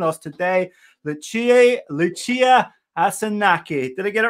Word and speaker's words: Asanache: guest here joining us today the chief lucia asunaki did i get it right lucia great great pronunciation thank you welcome how are you